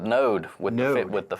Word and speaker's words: NōD: Rob Gupta founder of n OD co-working I pronounced alright or nod we call it node would new it with